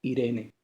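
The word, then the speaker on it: εἰρήνη: En hebreo se pronuncia shalom y en griego se pronuncia Irene.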